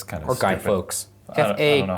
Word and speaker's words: Fawkes: Fawkes. I don't know how it's pronounced. F-A-W-K-E-S. I thought it was Fox. I think Fox.